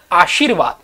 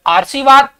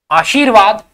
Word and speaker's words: आशीर्वाद: प्रयास कर सकते हो ये लिखा है आरसी वाद और यहां जो बन रहा है वो बना आशीर्वाद र का उच्चारण सी के बाद में यहां र का उच्चारण आ के बाद में कर आशीवाद गलत आशीर्वाद हमारा शब्द एकदम सही माना जाएगा आगे देखिए अतिशयोक्ति अच्छा